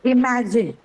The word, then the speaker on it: imagine: Where would you stress in imagine? There is no prefix here, no suffix here. It's a whole word and it's a verb. So where do you think is the stress? It's on Ma'am, the on the second syllable.